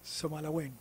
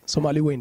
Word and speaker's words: Somaliland: I hope I'm pronouncing it right. Somaliland. Yes, you are. Yes, Somaliland.